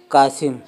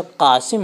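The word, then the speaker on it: قاسم: और अक्सर लोग पढ़ते हैं कासिम, यानी का, जिसको हम छोटा काफ कहते हैं, और इसमें सिर्फ बिंदी नहीं लगेगी, कासिम। ठीक है, ये लफ्ज़ ये गलत है, ये प्रोनाउंसिएशन बिल्कुल गलत है।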